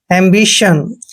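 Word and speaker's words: ambition: ओ एन चारों letter इकट्ठे आते तो इसका उच्चारण हम सन करते हैं एंबिशन दोस्तों एंबिशन का मतलब होता है इच्छा ठीक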